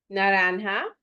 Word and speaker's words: naranja: Naranja, the J gets an H sound.